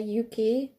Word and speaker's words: Yuki: The K-I is a key, so you would say Yuki.